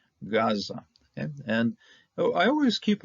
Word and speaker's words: Gaza: AA of Gaza okay now if we didn't know anything about the ga we'd be pronouncing this thing as AA but it's the Gan lets us understand and the Sean the Greek version understood as such this is a g okay Gaza okay and I always